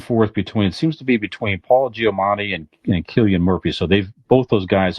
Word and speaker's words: Cillian: It's not spelled with a K. That's all I'm saying. Apparently, it's Cillian.